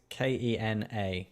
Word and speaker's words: Kena: And I'm sort of seeing that with Kenya or Kenya. I can't actually remember how the pronouncement is. It's Kena.